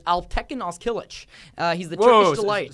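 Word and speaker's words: Alptekin Özkılıç: I wish you were going to try to pronounce it, but it's Alptekin Ozkilic.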